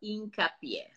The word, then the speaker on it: Hincapié: So the first name is, and then the last name, the H in Spanish is silent, so Hincapié.